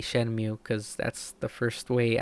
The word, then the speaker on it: Shenmue: Shenmue or Shenmue, you're gonna hear me say that a lot, but I personally say Shenmue because that's the first way I ever pronounced it.